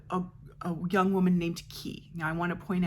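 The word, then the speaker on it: Ky: a young woman named key now I want to point out that at the beginning of this book they do a thing like how it's pronounced key and not Kai or k or whatever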